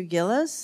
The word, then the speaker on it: Gillis: I'd like to ask is it Professor Gillis is that how your name is pronounced yes yes it is okay so isn't it